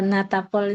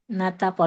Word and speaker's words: Natapol: Kalau Natapol ini, Natapol, memang begini dibacanya, Natapol.